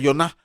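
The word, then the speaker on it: יונה: el libro de Jonás Qué significa Jonas en el hebreo antiguo se pronuncia Jonah y significa paloma es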